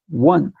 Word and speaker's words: one: Então, na verdade, o sonzinho que sai ali é um som de W.